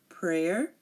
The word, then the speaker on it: prayer: for the letter Y it's very rarely silent um it's silent in the word prayer um in the word Mayor um but some Americans say